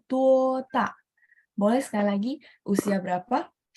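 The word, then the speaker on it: 多大: Kalau misalnya berapa besar atau usia berapa, kita akan bacanya tuota.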